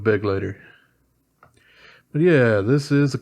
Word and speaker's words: Begleiter: I've seen a lot of people call it the Bagleiter, and I don't really think it's spelled that way, so yeah, I'm gonna go with Begleiter.